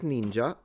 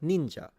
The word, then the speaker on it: ninja: Uh, the Japanese do pronounce the I like we do in romance languages.